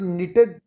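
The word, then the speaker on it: knit: Grand mother निटेड, निट कैसे, एन से पहले कैसे साइलेंट होता है, निट का मतलब होता है बुनना।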